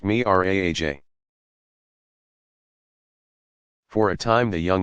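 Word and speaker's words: Mi'raj: From a spot nearby Muhammad began his ascension or Miraj, pronounced Miraj.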